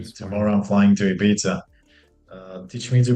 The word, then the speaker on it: Ibiza: The thing is that if you say it Ibiza like a Spanish person, you sound like an Yeah. asshole because you sound snooty. Uh, I just call it Ibiza, which I'm pronouncing like a Puerto Rican person, Ibiza.